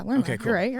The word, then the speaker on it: Lerma: Yeah, Lerma.